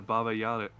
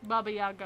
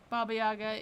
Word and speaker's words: Baba Yaga: okay yeah i think that's it yeah the baba yada yeah i'm about to butcher that name so hard oh my god baba yaga i think is how it's pronounced yeah baba